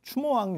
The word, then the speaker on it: 추모: 오늘 말씀드릴 이야기는 추모왕 이야기. 주몽이라고도 하고 추모, 그냥 원 발음이 아마 추모 쪽이 좀 더 가까웠을 걸로 추정을 합니다.